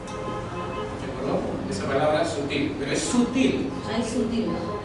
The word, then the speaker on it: sutil: A ver, sutil. ¿Cuántas sílabas encontramos ahí? Dos. ¿Y cuál de ellas predomina? En sutil, ¿cuál de ellas lleva más fuerza, más énfasis? En la sílaba til. Entonces, ¿dónde está ubicada? En el último lugar.